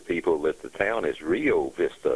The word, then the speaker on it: Rio Vista: Tornadoes again did damage in Rio Vista in Johnson County. Please tell your weather people that the town is Rio Vista.